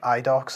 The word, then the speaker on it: Idox: been outsourced to like idock that's spelled idox for example uh and